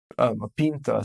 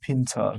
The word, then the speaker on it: pint: another word in russian you say pinta biva pinta so in english it's a similar word but it's not pronounced in the same way okay so in